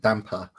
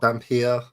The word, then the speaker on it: Dhampir: Well, that's certainly better than the way I've been pronouncing it, because I've always said it damper. But you know what, Dhampir? That just sounds better.